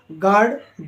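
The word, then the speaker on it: guard: क्या होगा sorry you यू क्या होगा आपका साइलेंट होगा ठीक है तो इन् किस तरीके से रीड किया मैंने आपको पहला आपका गार्ड जीय ए आरडी गार्ड यानी चौकीदार जी यूई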